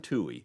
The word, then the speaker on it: Tuohy: Caitlin Toohey, and that's Toohey is spelled Tuohy.